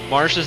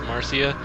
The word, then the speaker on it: Marcia: um and i i did actually check um marsha's name is actually pronounced like that despite some people saying that it's actually supposed to be pronounced marcia i looked up like the original name um